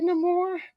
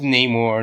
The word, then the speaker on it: Namor: Well, it's just placing the emphasis on a different part of the name, on a different syllable or letter. That's all it really is. I mean, it's the same thing with Namor, Namor. Yeah. I mean, if anything, Namor is just Namor with a Spanish accent.